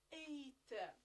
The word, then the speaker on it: eight: we WR the G but we do not pronounce it it's eight eight nine nine and 10 10 then we